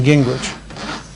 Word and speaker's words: Gingrich: And then Gingrich. For real, how does this spell that?